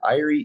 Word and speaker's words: Eyrie: You know, it's kind of like, well, how do you pronounce that? What is it? Eyrie.